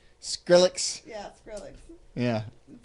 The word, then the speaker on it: Skrillex: Yeah, I'm going to look up some Skillex songs and tell him to play them. That was the awesome pronunciation of Is that what it is?